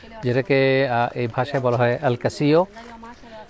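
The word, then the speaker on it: El Castillo: আর এটাই হলো main ক্যাসল, যেটাকে এই ভাষায় বলা হয় আল কাসিও, বানান করে আল কাসিলো কিন্তু উচ্চারণ হবে আল কাসিও।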